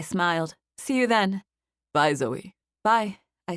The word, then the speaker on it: Zoe: Etheridge he said finally Zoe I said it's spelled z-o-e like so but you say it like it has a y on the end I look forward to